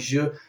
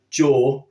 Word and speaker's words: jour: Okay, and also if you're struggling to pronounce that French jour, then don't try to go jaw like a lot of English people do, because it's not, even though it's written with a J, they are going to be wanting you